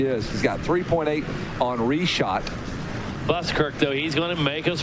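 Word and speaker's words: Richotte: R-E-S-H-O-T. Reshot. That's the way I'm going to spell it in my head. R-E-S-H-O-T. Yes. Reshot. But it's not spelled like that. It's spelled R-I-C-H-O-T-T-E apostrophe the number 4 and the symbol for boron.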